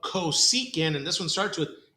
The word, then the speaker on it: cosecant: says CSC that is short for coant so cosecant is how we pronounce it but then look at the fraction